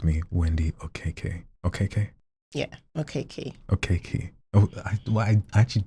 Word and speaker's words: Okeke: Yeah, Okeke.